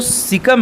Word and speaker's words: caecum: CAECUM, सिकम का यही spelling है, ठीक है ना, सिकम।